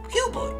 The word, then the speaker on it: Hubert: H-U-B-E-R-T. That spells Hubert, doesn't it? Yes, but that is not how you pronounce it. My name is actually Hubert.